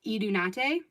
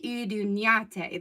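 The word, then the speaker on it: Iduñate: So like when I'm talking to most people, I'll tell them that they pronounce my name Idunate because it's just easier for them to say Idunyate, but it's really Idunyate. There's like a niya in there. So Idunyate.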